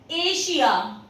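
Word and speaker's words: Asia: अगर आपको एस के बाद आई ए मिले या फिर आई ओ एन मिले तो उसका प्रोनाउंसिएशन श होगा। For example एशिया, ए एस आई ए, तो एस के बाद आपको आई ए देखने को मिल रहा है, दैट्स व्हाई इसका प्रोनाउंसिएशन है श।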